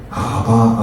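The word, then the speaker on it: אבא: 때 여러분은이 아빠의 사랑 아바 아버지는 히브리어로 아빠 발음이 똑같아요 희한하게 아바 아버지가 히브리어로 아빠 아빠라고 바요 참 희한하죠이 믿음을 가지고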